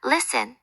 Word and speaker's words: listen: 예를 들어 doubt에서 B는 묵음이고 listen, 듣다에서는 T가 소리 나지 않죠.